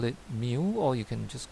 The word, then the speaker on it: mu: we use this symbol and we call it mu or you can just call it micro when